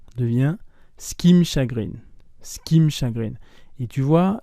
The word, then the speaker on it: ce qui me: Et tu vois, le ce qui me chagrine, le skim, donc c'est apostrophe qui i, apostrophe, si on peut le dire ainsi, m, se prononce exactement comme dans skim, skim through.